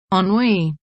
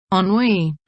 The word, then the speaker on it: Ennui: from Thoreau skate shop enough I'm pronouncing it right but it's how Google told me sir ennui ennui anyway first impressions is